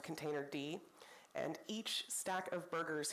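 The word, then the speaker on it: containerd: advantages most Cloud providers default to containered which is actually pronounced container D and each stack of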